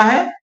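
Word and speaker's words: who: हु क्या होता है, देखो ये जो WH1 है, इसको हु नहीं कहेंगे, इसको हु कहेंगे। ओके, इसमें W जो है वो साइलेंट रहता है।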